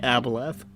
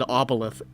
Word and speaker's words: aboleth: I don't know, he's forgotten how to say aboleth. I said aboleth. You said oboleth. With an accent.